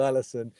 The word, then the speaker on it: Alisson: Alisson.